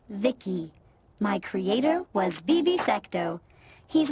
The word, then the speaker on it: V.I.C.I: By the way, I'm V.I.C.I, pronounced Vicky.